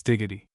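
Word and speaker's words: Dalgety: Her partner, who is also the cook, is a person introduced to us as Miss Diggity. We afterwards learn that this is spelled dalgedy, but it is not considered good form in Scotland to pronounce the names of persons and places as they are written.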